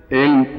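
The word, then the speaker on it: ऐं: है उच्चारण समझ गया एंग एम नहीं बोल सकते एंग।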